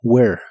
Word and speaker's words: Where: dónde o a dónde no se pronuncia la H ni la última e de esta palabra solo Where Where y usarás el